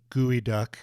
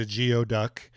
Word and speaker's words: geoduck: It's been three decades since I mispronounced the name of the Pacific clam gooey duck. I called it a geod duck when visiting uh the